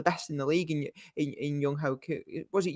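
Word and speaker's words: Younghoe Koo: And they've got a fantastic kicker, one of the best in the league in Young Ho Koo. Was it Young Wei Koo? That's it.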